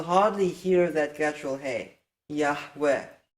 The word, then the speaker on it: Yahweh: Yahweh can contract to the short form Yahu. No other pronunciation can contract to the short form Yahu. The short form Yahu demands that the first vowel is a patach, that the second vowel is a schwa, that the third vowel is a segul.